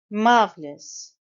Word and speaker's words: marvelous: in Canada last spring marvelous marvelous it's a three cable word the stress is on the first syllable are sound is almost